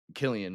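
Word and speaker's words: Cillian: pushing for um uh dillian Murphy oh that would have been cool I also how say his name Killian Murphy Killian Murphy my bad a lot of people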